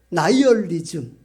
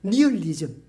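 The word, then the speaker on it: nihilism: 나이얼리즘. 우리 옛날 시골에서는 영어식 발음을 잘 몰라 가지고 니얼리즘 이렇게 배웠죠. 나열리즘입니다. 나열리즘.이 이 허무주의라는 단어에서 차영화에서 선생이 만든 화학 섭리에 붙인 이름이 나일론입니다.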